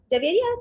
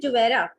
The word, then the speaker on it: Javeria: Javeria, do I pronounce your name correctly or is it Juvera? You pronounce it correctly.